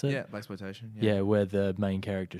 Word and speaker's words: blaxploitation: Is that how you pronounce it? Yeah, blaxploitation.